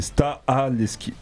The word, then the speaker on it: Stahelski: prononce mal à chaque fois son prénom, donc c'est Stahelski.